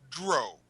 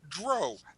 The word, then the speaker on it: Drow: about a couple words you can pronounce Dr elves as Dro so if you want to say Dr that is correct if you want to say drao that is correct neither way is incorrect I just want to